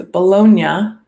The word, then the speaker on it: Bologna: about this last time it's Bologna that's how you see the city Children's Book Fair was